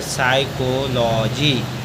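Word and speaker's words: psychology: P silent होता है example P एस वाई सी एच ओ एल ओ जीी वाई एस से पहले पी आया पी साइलेंट है इसको पढ़ेंगे साइकोलॉजी अगला है पी एच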